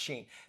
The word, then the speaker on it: Shein: Yeah, how do we pronounce that? Shein or Shine or Shein? Well, hey, however you want. Shane. I've not checked it out, but I heard it. There's one called Shein. We're being told it's pronounced Shein.